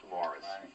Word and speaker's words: Maurice: Aside from being controversial, it also takes top honors for the year in the year's most mispronounced film title, spelled Maurice, pronounced Morris.